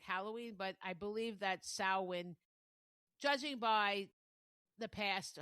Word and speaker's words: Samhain: sam h a i n and they do pronounce it sa wind So, I think that that's probably the proper way.